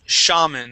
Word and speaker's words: shaman: Now this is shaman instead of shaman. Shaman. Shaman. Okay. Give me an ah sound.